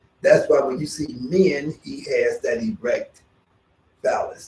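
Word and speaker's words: Min: going to do the pose of men men is spelled m-i-n we're going to do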